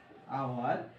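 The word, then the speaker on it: hour: সময় আগে ভাওয়েল আসে, যেমন আওয়ার, এটা এইচ, এইচ শব্দটার এখানে কিন্তু উচ্চারণ হবে না, এখানে উচ্চারণ কি হয়, আওয়ার।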